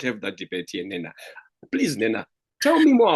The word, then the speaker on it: Nnena: Na. Is that the pronunciation?